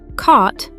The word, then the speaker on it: caught: They all have that same deep vowel sound followed by a silent GH and a sharp T. Thought, bought, caught, brought.